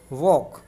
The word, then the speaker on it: walk: और इसके बाद अगला वर्ड है WALK वॉक। वॉक वॉक means होता है घूमना, जो कि आप लोग जानते हैं, और इसमें भी एल साइलेंट है।